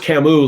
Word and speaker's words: Camus: everything right um uh it's pronounced camus like the like the french philosopher um see there you